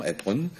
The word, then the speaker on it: Apron: Il y a une inconnue, on l'a connue du Birobidjan, elle s'appelle au départ Maria Apron, je la prononce à l'américaine, hein, très bien. Volontairement, Apron.